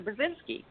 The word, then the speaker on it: Burzynski: Burzynski and several of my songs who-who Bill Clinton blocked aggressively blocked can secure since 1994 with dr. Burzynski and it rhymes with Lewinsky so what my hashtag is dr.